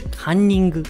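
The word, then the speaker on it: カンニング: So it's called cunning, but in Japanese it's kanning.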